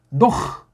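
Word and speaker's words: נֹחַ: 이게 노아가 아니고 노흐. 노흐라는 발음을 서양 아이들이 못합니다.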